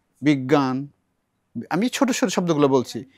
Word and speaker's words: বিজ্ঞান: এখানে অজ্ঞ বিজ্ঞ এই যে গ এর উচ্চারণটা আংশিক নাকে হবে এটা পুরো নাকে বিজ্ঞান আমি ছোট ছোট শব্দগুলো